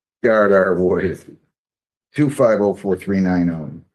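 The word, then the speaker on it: Woida: Is it Voida? W-O-I-D-A, correct? It's pronounced Voida, Your Honor.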